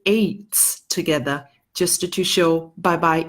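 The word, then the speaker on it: 拜拜: in Chinese we say bye-bye it's the same pronunciation actually it is a borrow the word from English bye-bye well as you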